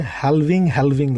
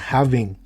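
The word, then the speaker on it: halving: আর একটা জিনিস আপনাদেরকে সবসময় উচ্চারণ করতে দেখি, বাংলাতে হ্যালভিং লেখেন. কাইন্ডলি গুগল করে নিয়েন, দিস ইজ কল্ড হ্যাভিং, ঠিক আছে? অর্ধেক করা হ্যাভিং, এটাকে হ্যালভিং বলে না.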